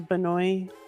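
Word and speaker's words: Benoist: Um, and in some of these classes I've had on Zoom, the chick from Supergirl, Melissa Benoi. Melissa Benwa. That's right. Benoa, however you pronounce it.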